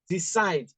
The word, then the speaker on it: decide: Decide is a verb. All right? So where do I stress it? I'll put my stress here, because the rule says that when I have two-syllable verbs, I should stress the second syllable.